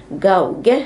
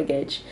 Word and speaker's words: gauge: man hur det uttalas så att jag inte säger gauge här när det ska vara gage men men Google Translate